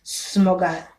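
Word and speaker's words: smörgåstårta: Number two is smogastata, which is spelled Smorgastarta, smogastata, and it looks like this.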